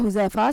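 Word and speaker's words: Huzaifa: है दीनदार नेक और परहेज गार नाम है हुजैफा स्पेलिंग है एच यू जड ए आई एफ ए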